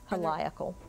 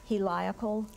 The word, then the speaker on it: heliacal: The Egyptian rural year was determined by the heliacal rising of Sirius. Heliacal. Are there any alternate pronunciations? Heliacal, heliacal.